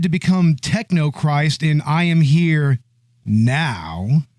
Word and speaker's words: I Am Here Now: You got to say it like that, right? I am here now. I am here now. I am here. There's a pause, okay? There's an ellipsis in the title, and by God, we are going to pronounce it.